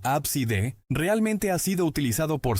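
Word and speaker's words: Abcde: Según registros de nombres en los Estados Unidos, el nombre A CD, pronunciado comúnmente como ABSD, realmente ha sido utilizado por cientos de familias.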